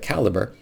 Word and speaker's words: Calibre: use a free tool like Draft Digital or Calibre. Somebody corrected me on the pronunciation of that, since most people don't talk about it too much, but Calibre.